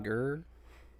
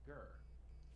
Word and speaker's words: Gher: Last name Gurr. Yes, his last name is in fact Gurr. It's spelled Gher.